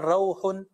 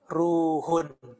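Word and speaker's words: رُوحٌ: Jadi riwayatnya Aisyah dibacanya bukan rauhun, tapi dibacanya ruhun. Bidhammir ra wa huwa ruh.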